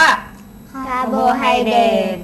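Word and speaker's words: carbohydrate: คะ สาร อาหาร คาร์โบไฮเดรต คาร์โบไฮเดต สะกด ว่า c a r b o h y d r a t e อ่าน ว่า คาร์โบไฮเดรต อ่า นอก จาก คาร์โบไฮเดรด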